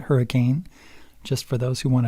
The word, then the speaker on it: Hurricane: That's how you say it, by the way, when you're local, is you say hurricane, not hurricane, just for those who want to visit.